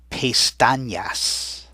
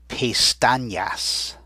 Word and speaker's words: pestañas: the tilde, over it, it actually makes that letter sound like an NY, sort of the way we pronounce the N in the word senior, and you already know señor. So it's got that sound in it.